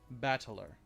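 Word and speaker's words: 戦人: This part is made up of the characters for fight and person, and it's pronounced battler.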